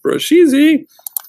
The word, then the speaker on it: Brusheezy: And yes, in order to get it, you have to say it like that, Brusheezy.